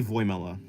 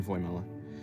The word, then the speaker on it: Voimela: I say it like Vamela, but it's really Voimela. It's actually really Voimela.